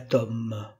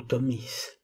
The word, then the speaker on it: Tomis: Epistolae ex ponto, les lettres du pont, où il exprime sa tristesse d'avoir été exilé à Tom, ou Tomis, suivant les prononciations, aujourd'hui Constanța, au bord de la mer Noire de l'actuelle Roumanie.